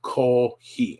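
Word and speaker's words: コーヒー: Another common one in the morning would be coffee is kohi. Again, it's COFFE. So they, for some reason, CO has become ko, and then fee is that same, but they don't really have the fee, the hard F sound.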